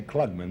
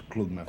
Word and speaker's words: Klugman: Yeah, I always say Klugman, but the correct pronunciation is Klugman. From Klugman, which is a smart man.